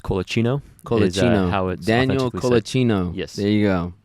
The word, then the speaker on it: Colacino: pronunciation of it uh if you want to do it by the Italian way it's kinoo Daniel Kino there you